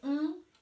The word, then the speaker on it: ont: de thé et le hong qui porte un t à la fin bien entendu il se prononce exactement la même manière n'a pas différence de